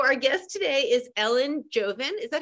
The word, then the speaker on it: Jovin: So our guest today is Ellen Jovin. Is that how it's pronounced, Ellen? Jovin? That's right. Okay, Perfect. Ellen Jovin.